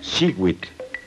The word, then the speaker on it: xiuitl: Cada cuadrete contiene el color turquesa, que se pronuncia xiuitl.